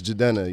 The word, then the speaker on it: Jidenna: I'm not one of them my name is jadena you know how many people mispronounced my first name this is true still